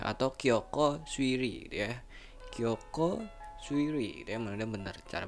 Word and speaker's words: Kyokou Suiri: Kyoko Suiri gitu ya, benar cara bacanya.